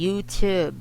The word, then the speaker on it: YouTube: very very very wrong it should be youtube youtube you have to pop the tea pop the tea okay